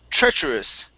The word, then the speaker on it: treacherous: This here is pronounced treacherous.